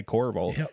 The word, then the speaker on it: Corriveau: And I forgot to say your name, but it's Dana Corval.